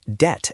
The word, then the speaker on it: debt: In French, they were spelled debt and doot. No B anywhere. Wait, what you mean? We added a silent letter just for fun.